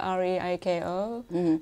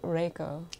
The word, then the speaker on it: Reiko: It pronounced like R-A-Y-C-O as opposed to R-E-I-K-O. Japanese there's no R or L. Okay. So here you go. So people call you what? R-A-Y-C-O, Reiko.